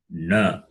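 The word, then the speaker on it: ण: And the last letter, nasal, is na. Na is a na. Na is cerebral. Okay. So the two nas are there. One is cerebral na, other na is going to come. It is dental na.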